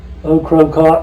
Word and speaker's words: Ocracoke: Ocracoke, that's what I've always been taught.